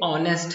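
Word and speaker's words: honest: आपके अनुसार, लेकिन ये इसको हम पढ़ते ऑनेस्ट हैं। क्या पढ़ते हैं इसको, ऑनेस्ट पढ़ते हैं।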